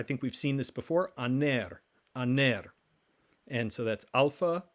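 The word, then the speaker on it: ἀνήρ: or husband i think we've seen this before aner aner and so that's alpha nu remember it looks like a v but it's really an n alpha nu eda ro a aner the word for is alpha rho we've encountered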